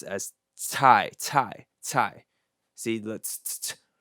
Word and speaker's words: cai: and it's pronounced as tai tai tai see that's right which is completely different if you would just read CAI in English terms it would be sigh sigh sigh see how